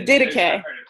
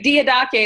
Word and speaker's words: Didache: The Didache. Okay, the Didache is how I usually say it, okay?